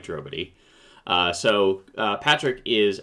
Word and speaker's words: Drobotij: fellow veteran game master patrick drobity uh pronounced nobody quite like drobity uh so uh patrick